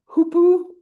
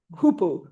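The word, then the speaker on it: hoopoe: Do you know the hoopu? Anybody? Yeah, you do. The hoopu is its name. It's spelled h o o p o e.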